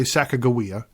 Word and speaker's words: Sacagawea: Her name, depending on how you say it, I always grew up saying Sacagawea. Some people say Sacagawea.